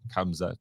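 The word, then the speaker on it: Khamzat: So K-A, sorry, K-H, okay, A-M, Z-A-T, Kamzat.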